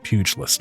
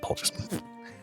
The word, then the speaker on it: pugilist: Pugilist, not pulgist.